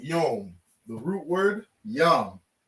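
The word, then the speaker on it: יוֹם: we have yum yeah they said young right they pronounce it yom the root word yum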